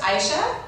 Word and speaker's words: Aisha: But my name is, people pronounce it in lots of different ways, and I'm totally okay with it as long as they're talking about me. That's all that matters. But it's just Aisha.